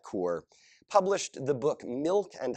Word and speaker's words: Kaur: Indian Canadian poet named a rupee tower or core I'm gonna mispronounce this word I think it's something more like core published the book milk